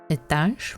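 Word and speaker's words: этаж: The rule is the beginning non-accent e goes either towards e sound or towards e sound as you feel more comfortable pronouncing it. And the example is the word etage. Etage means a floor in a building. Floor 10. So the transcription for this word is etage. Etage. I go with e, but some people can pronounce this as etage. It is also correct.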